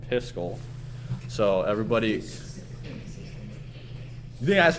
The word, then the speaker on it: Piskel: So instead, we're gonna use it's called Piskel.